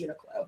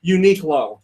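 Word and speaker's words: Uniqlo: people that work there they said it was Unico yeah but you asked the Americans that work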